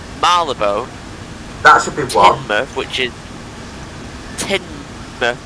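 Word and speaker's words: Teignmouth: Tinmouth, which is spelled T-E-I-G-N, mouth. Why? Why not just I-N, just Tinmouth? I don't know.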